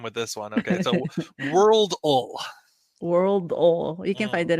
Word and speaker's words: Worldle: not Wordle, or I don't know if it's pronounced Worldly. But no, it's got to be Worldle. Okay, so speaking of the AI, the translation is going to have a hard time with this one. Okay, so Worldle.